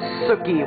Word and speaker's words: Sookie: I know it sounds like cookie, but it's actually Sookie with the S.